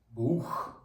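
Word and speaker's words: Buch: нашим першим буквосполученням буде буквосполучення букв ц і х читається як ха до прикладу візьмемо слово книжка ТАС бух ха знову ж таки я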